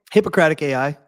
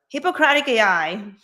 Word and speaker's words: Hippocratic AI: Hippocratic AI. Hippocratic AI.